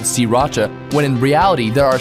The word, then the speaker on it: Sriracha: It's Sriracha. Don't bother paying attention to that first R. Sriracha. 3 separate syllables. Okay, you try. Sriracha.